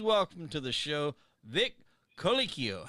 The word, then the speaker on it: Colicchio: his name please welcome to the show vic colicchio how you doing my friend good you know